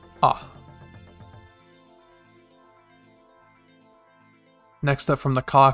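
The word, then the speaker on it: あ: Pronounced. Ah.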